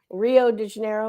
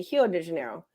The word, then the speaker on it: Rio de Janeiro: is actually called because the r's are actually pronounced like H's so when if you say Rio de Janeiro is what we always say it's actually hero de Janeiro which means River of